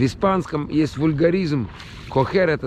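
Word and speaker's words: coger: Кохер. Пишется C-O-G-E-R. Как cougar.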